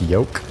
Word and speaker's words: yolk: I I always say yolk and then people tell me that you're not you're not supposed to pronounce the L it's more like yolk I thought you pronounced